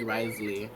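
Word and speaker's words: Wriothesley: it's Risley and the the VA said it's not grizzly I said I say really I say risely it's a mess to spell I just say that it's spelled with a WR right on Hitmonchan oh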